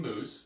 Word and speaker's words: Moos: And this week, we've got Kim Moos, which is pronounced, yes, like you said, what, the food and the hair care product, yes.